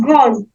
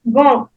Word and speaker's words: grand: So we have grand. Grand. Grand. Grand. The D is silent. Grand.